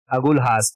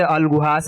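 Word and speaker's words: Agulhas: ठीक है, अगुलहास, कुछ लोग इसे अलगुहास, अलगुहास भी पढ़ते हैं, लेकिन ये अगुलहास होता है, अगुलहास करंट। ठीक है, अगुलहास करंट है।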